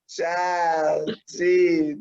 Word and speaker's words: ciaochiji: You have to say ciaochiji. It's it's an That's inside that's joke. my way. What Uh, if you had that as your intro though? Like for every video, it's like ciao, Chiji.